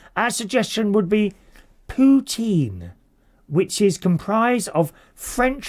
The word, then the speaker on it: poutine: Poutine is one of the most Canadian dishes we can think of and would absolutely love to see you make it.